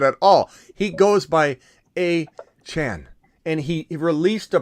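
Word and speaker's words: Achane: go by that at all he goes by a Chan and he he released a press release saying you're pronouncing my name wrong and you have been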